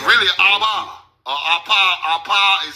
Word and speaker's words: Abba: Abba is pronounced Appa.